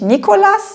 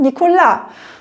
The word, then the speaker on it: Nicolas: Und im Französischen ist ja auch immer die Betonung hinten auf dem Wort. Da heißt es ja nicht Nicolas, sondern Nicolas und so weiter.